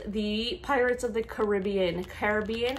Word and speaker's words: Caribbean: last one is the pirates of the caribbean caribbean how do you say is it caribbean or caribbean comment down below how do you